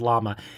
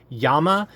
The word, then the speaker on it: Llama: are more fam more famously referred to as llama and actually that's a misnomer it's actually per pronounced Yama and it stands for fire uh which would